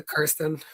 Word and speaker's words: Kirsten: I think she's a Kirsten.